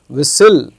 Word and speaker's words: whistle: The T is silent in these all these words.